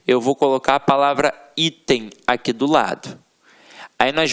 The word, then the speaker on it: item: Então, olha para a palavra item. Ela é uma paroxítona terminada em EM. O EM, que está no nosso quadrinho. Portanto, ela não leva acento.